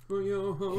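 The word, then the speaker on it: Schmoyoho: Shmoyoho, Here- accent on the yo.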